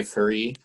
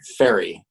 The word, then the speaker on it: Ferree: chamber orchestra and fari um am i pronouncing that right because sometimes people never okay it's not like fairy fairy okay um is